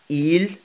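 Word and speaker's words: ils: إيل كما قلنا الإس لا تنطق.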